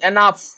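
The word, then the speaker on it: enough: कहूछ आवर आवर तो कोन ना तो ए साइलेंट हबो आंसर कोन हबो आवर our next question GH जगह मु हेतले कहितले जीएच एनफ एनफ एनफ एटा आछी ना नहीं एनफ एटा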